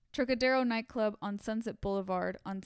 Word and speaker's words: Trocadero: So according to the police records, Todd had gone to the Trocadero, I wanted to say it correctly, Trocadero nightclub on Sunset Boulevard on Saturday night for